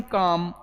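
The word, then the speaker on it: calm: देखना मैंने क्या कहा, ये एल कॉन्सोनेंट है, एल के पहले वोवेल है, तो देखो कॉलम नहीं, एल को साइलेंट करेंगे तो इसको क्या पढ़ेंगे हम? काम। क्या पढ़ लेंगे? काम।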